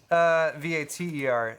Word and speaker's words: Vater: But it's spelled the same? Vater, according to Kitten.